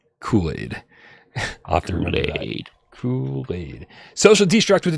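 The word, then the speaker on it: Culade: the two dollar tip says Kool-Aid his name is spelled c-u-l-a-d-e and so I said kulad because I'm dumb and he says it's pronounced Kool-Aid afterward Kool-Aid social destruct with the 10 tips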